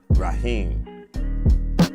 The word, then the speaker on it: Raheem: It's pronounced Raheem, but Brawley is the producer name.